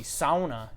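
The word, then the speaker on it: sauna: comments from people that hey you have the pronunciation of sana wrong in your book it should be Sona should be s o w - na and at first I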